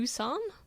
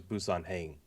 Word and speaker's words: Busan: Pronounce Train that to for me. Busan. Oh, okay. I thought it was Busan Hang.